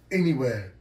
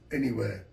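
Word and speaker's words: N.E.Wear: n dot e and then w-e-a-r m-e-m-e- where pronounced anywhere anywhere ladies and gentlemen thank you very much my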